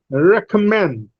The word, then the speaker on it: recommend: Cigarette, or let us say recommend. There are three syllables. All the syllables are produced with breath force. There are three breath forces, re and ka and mend.